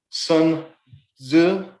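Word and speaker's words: Sun Tzu: um ideas there by sun zu is how you pronounce that but it's a great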